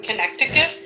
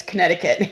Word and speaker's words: Connecticut: Yeah, we say Connecticut. It's It is spelled Connecticut, but we say Connecticut, but it's not connect.